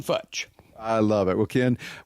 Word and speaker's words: Futch: It's like Dutch, except with an F. Ken Futch.